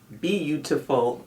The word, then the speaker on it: Beautiful: It's called Bee-u-ti-ful Natural Organic Beautiful Bee-u-ti-ful is how it's pronounced.